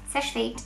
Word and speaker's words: Seche Vite: I'm always getting comments from you guys saying that I pronounced it wrong, but yes, Seche Vite and Millionaires.